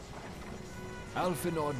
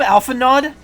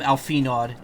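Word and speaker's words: Alphinaud: Alphinod, my boy. Sorry to have been such a burden. Did he call him Alphanod? Did he actually mispronounce his name?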